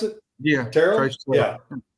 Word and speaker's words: Terrell: Is that how you pronounce it? Yeah. Terrell? Yeah. Terrell.